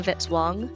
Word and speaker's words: Vitzwong: Music by Kevin Vitzwong, rhymes with hit song.